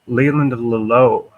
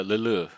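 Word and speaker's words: Leleux: It's Mark Savoy, Dewey Boltha, and Leland Lelo with an X, OUX. Oh yeah, Lulu. Yeah, there you go. You pronounced it better than I did.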